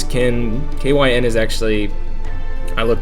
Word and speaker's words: Kyn: of the game kin I guess it could be pronounced K with that kyn but I think it's kin kyn is actually I